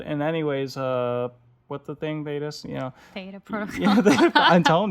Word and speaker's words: Theta: What if Thetas Protocol, did I say it right? Woo! Project Thetas. Hashtag Project Thetas. There's no S. It's Theta.